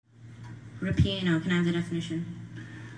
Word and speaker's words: ripieno: Ripieno came from Italian, which formed it from a Latin word. Are there any alternate pronunciations? Just the one, ripieno.